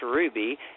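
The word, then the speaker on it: RWBY: you can actually watch Ruby and it's spelled r WBY Y and it's actually American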